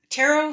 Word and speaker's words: tarot: Tarot has been a huge part of my healing journey. And no, it's not the occult. Tarot, I'm going to choose this deck today. Tarot, it's actually pronounced tarot, is the story of